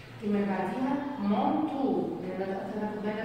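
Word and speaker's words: manteau: عندي بعد كده كلمة كادو كادو كادو يعني الهدية E A U نطقتهم O. الكلمة اللي بعديها مونتو اللي انا بدأت اخد بالي بقى حاجات اللي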